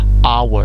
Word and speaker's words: hour: So we have here H, mais quand on prononce, on dit hour.